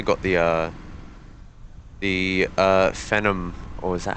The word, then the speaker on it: Phenom: and we've also got the uh the uh Phenom or is that how you pronounce it yeah Phenom yes is that it down there it's it's